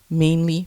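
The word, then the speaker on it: Mainely: Hi, I'm doing another giveaway, and this one is sponsored by the Etsy shop Mainly Fish Prints, and that's mainly spelled like the state, M-A-I-N-E, Mainly Fish Prints.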